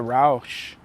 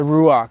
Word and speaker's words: ruach: form and then the rous uh ruach I would say rous because I say it wrong the ruach which is u the ego